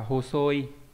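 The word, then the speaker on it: 細い: Tế này có cách đọc là hosoi nghĩa là gầy và gì nhỉ?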